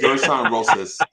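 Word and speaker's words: Gersson Rosas: Gerson Rosas.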